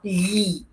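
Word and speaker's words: gli: لالبرو، لالبرو يعني الشجره، وجمع الابوستروفو لي، جي ال اي بتنطق لي، لي ولساني تحت ما طلعش في اللام باللسان فوق، لي، يبقى لي البري، لالبرو لي البري، لالبرو لي البري.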